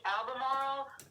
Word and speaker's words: Albemarle: do you say albemarle or albemarle uh it's pronounced albemarle but i actually live in raleigh north carolina